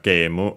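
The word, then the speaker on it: ゲーム: After that, we have game, as already mentioned, game, but yeah, that we have already seen multiple times. It's accented on ge, as like in English.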